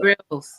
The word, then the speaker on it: Grylls: don't know how to pronounce this bear. Is it Grylls? Oh, Bear Gyrl? Grylls.